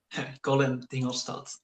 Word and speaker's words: Colin Dingelstad: Colin Dingelstad, but it's Dutch, so you don't really have to think about it. Okay. Just pronounce it however you want.